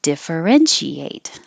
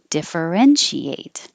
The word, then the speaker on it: differentiate: ass aesthetic beautiful aesthetic differentiate is way over here because it has five syllables and the stress is on the third syllables differentiate differentiate and prosecutor has three